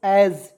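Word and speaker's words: as: बाद यहां पे देखिएगा ए एस एज देखिए इसे क्या पढ़ेंगे दोस्तों एज पढ़ते हैं ठीक है एस का उच्चारण यहां पे ज के रूप में करेंगे और ए का उच्चारण ए के रूप में कर लेंगे एज पढ़ेंगे एज मींस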